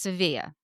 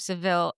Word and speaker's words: Sevilla: It's pronounced Sevilla. Sevilla. So, the thrill from the thrill of Sevilla doesn't really work for a name, but I will give the thrill of Seville an okay name.